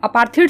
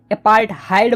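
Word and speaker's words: apartheid: तो देखो यार, साउथ अफ्रीका में ना यार अपार्थीड सिस्टम जो थी ना, अपार्थीड बोलो या फिर अपार्थहाइड बोलो यार, कुछ लोग इसको अपार्थीड बोलते हैं, कुछ लोग इसको अपार्थहाइड बोलते हैं, ठीक है।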